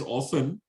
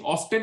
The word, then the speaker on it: often: word and for years i was told t is silent right the only way